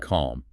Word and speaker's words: calm: The L often disappears after vowels like a, o, or u. The two big mistakes here are salmon, not salmon, never, and calm. The L is completely gone.